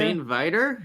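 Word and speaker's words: St. Viator: But in CHGO gear, as a fellow alum of, how do you pronounce that, Nick, over there? St. Vitor?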